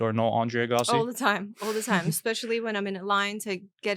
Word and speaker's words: Agassi: So Agassi, that's the Armenian way Yeah. of pronouncing Yeah.